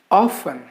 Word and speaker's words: often: very often we make very often we make mistake pronouncing this word as often it's not often even though the spelling is often the letter t is silent in this particular word so the correct pronunciation